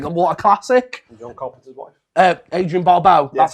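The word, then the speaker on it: Adrienne Barbeau: for christ's sake what a classic wife uh adrian barbau that's how you pronounce the name i always say the last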